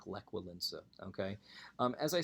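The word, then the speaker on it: Lech Wałęsa: like well Lisa as you can see it's pronounced like lek will ensue okay as I said it's an anti-communist movement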